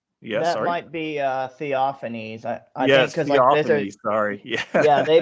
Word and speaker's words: Theophanes: it might be uh theophanese sorry yeah they pronounce they pronounce the E like they don't have a silent E yeah I think it's